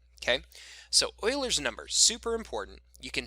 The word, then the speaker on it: Euler: is log base e e is known as euler's number you might also hear pronounced as euler or euler he's a swedish